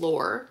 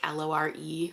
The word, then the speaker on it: Lore: So we have this girl named Lore, spelled like L-O-R-E, Lore, and she's involved in various, like, scams